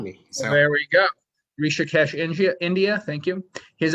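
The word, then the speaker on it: Rishikesh: sa SATA Summit in rashika Rik I'm gonna mispronounce this one Henry how do I help me out here with the India place it's it's rishikes and actually uh the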